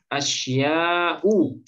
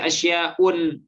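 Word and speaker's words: أشياءُ: Asya'u, jamak dari syai'un. Ya, asya'u. Boleh nggak kita baca asya'un? Tidak. Tidak boleh ya, karena dia isim yang diakhiri alif ta'nis mamdudah.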